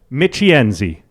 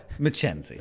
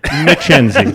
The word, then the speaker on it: Michienzi: the names yeah yeah so michienzi no Mackenzie McKenzie you're still screwed to that I still McKenzie yeah we've gotten all kinds of pronunciations over there my favorite is mccheesy that's a pretty cheesy